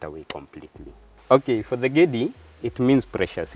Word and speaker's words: Gedi: So it's Gedi, not Gede, but you'll hear some people call it Gede.